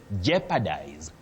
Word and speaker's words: jeopardize: You say jeopardize. To jeopardize, not to jeopardize. Jeopardize, common but wrong. You also say jeopardy because that O is silent.